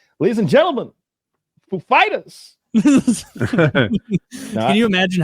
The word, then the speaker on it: Foo Fighters: Foo Fighters, he's like, do I put the accent on the Foo or Fighters? And they're like, on Fighters. And so when he comes like, ladies and gentlemen, Foo Fighters.